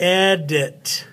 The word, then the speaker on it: edit: Then we got edit, it, IT, there it is, edit.